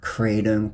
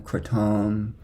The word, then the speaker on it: kratom: the funk you want you can call it Kratom kratom Kratom I like crud